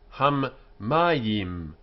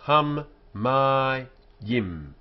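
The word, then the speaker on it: הַמַּיִם: Ham mayim, ham mayim. Three syllables. Ham mayim. The waters. So m without the dot, m with a dot is m. So it indicates a doubling of the letter when it's here. After a consonant and preceded by a full vowel. So hum, ma, yim. So the first syllable, hum, is closed. The next is ma, open, and then yim, closed again.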